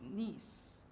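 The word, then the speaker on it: gneiss: G and E it's nice the G silent G is silent all right this is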